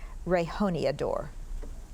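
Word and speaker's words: rejoneador: Rehoniador. Can I have the origin? This word is from Spanish. Any alternate pronunciations? Rehoniathor.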